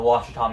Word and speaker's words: Ouachita: the Washita mountains oh here's another one that isn't spelled quite like it's said you heard I said Washita and you would probably expect that to be spelled something like waa s H ITA no it's oh you ACH ITA which is the French spelling the best part is